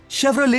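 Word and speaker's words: Chevrolet: इसी कड़ी में आपको बता दूं दोस्तों कि एडिडास नहीं होता, बल्कि एडिडस होता है, और शेवरोलेट नहीं, शेवरोले होता है।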